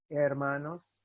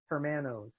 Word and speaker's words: hermanos: In my class, if you pronounce an H that should not be pronounced, which is basically all of them, I will stop class, because if there's one letter that's easy to pronounce properly, it's H.